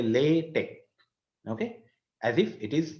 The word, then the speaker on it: LaTeX: letic actually um in the beginning somebody said leex uh but uh the people who make a big fuss about uh how to pronounce this particular word they say lat Tech okay as if it is l a y